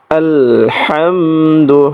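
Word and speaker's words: الحمد: আলহামদু হামদু হার মধ্যে চাপ দিতে হবে। প্রিয় দর্শক সকলে হার মধ্যে চাপ দেন। না হলে হরফটা কিন্তু সহি উচ্চারণ হবে না।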